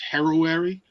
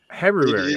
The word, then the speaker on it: Heruary: Brother Aaron likes to pronounce it as Heruary. Heruary.